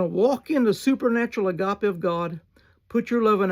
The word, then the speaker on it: agapeo: That's how we spell it in English. The word for loveth here is A-G-A-P-E-O, or A-O, agapeo.